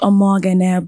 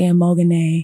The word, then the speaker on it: Omoghene: It's pronounced Omoghene, but for those that are Americans, they can say Omoghene.